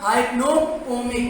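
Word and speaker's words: hypnopompic: सही प्रोनाउंसिएशन की बात, हाइप्नोपोमिक।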